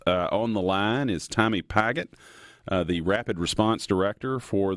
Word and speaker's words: Pigott: It's pronounced Pigott, but I like Pigott, so whatever is best.